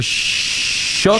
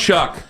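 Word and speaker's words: Shough: The montage of is it Tyler Shook? Shuck.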